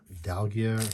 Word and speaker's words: Dialga: and there's a v right there original form dalgia that's how you say his name i'm not very good at like pronunciation never been so and i don't watch